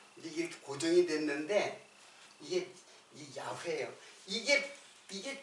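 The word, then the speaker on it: 야훼: 그게 그게 우리들이 글자로 쓸 적에 이게 야회가 되는 거예요. 야회. 그래서 이에보다는 그냥 우리 한글로 쓰면은 뭐야 이게? 야회예요. 야회. 그래서 우리말로 여호와라고 쓴 것이지 실제로 발음은 야회가 더 가까워요.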